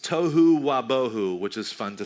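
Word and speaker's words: תֹּהוּ וָבֹהוּ: It's pronounced tohu wabohu, which is fun to say.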